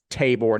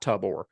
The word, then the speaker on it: Tabor: Also, we've been pronouncing Tabor Tyson's name wrong. We got a DM about that. I think it's Tabor, not Tubor.